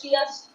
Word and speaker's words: chia: That's it's pronounced as chia seeds.